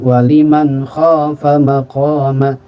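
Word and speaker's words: وَلِمَنْ خَافَ مَقَامَ: Kemudian contoh yang lain, waliman khafa maqama.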